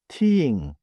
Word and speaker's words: 티읕: Second sound, tieing. Written tieing. Same place but stronger air. Listen. You should feel more air than with da.